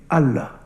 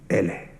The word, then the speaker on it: Allah: árabe de Dios, de Allah. En el árabe andalusí, la A se pronunciaba como una E o como una I, eso se llama imela. Así que no digan Allah, digan Ele.